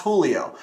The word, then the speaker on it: Julio: But my name's actually pronounced Julio.